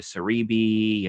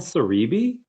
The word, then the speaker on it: Celebi: and that was when I started going into Cerebi and all of that stuff and like, training Pokemon to try and get certain moves and stuff. But yeah, yeah. I is it called Cerebi?